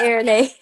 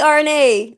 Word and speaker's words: Airinaye: Did I say Airinae or did I or did I try Airinae. Okay, I was be like Milli RNA, RNA, but it literally says A I R, like air air.